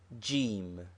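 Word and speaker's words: جيم: Jim. It is the letter Jim, which is the English J, but pronounced hard G in Egypt.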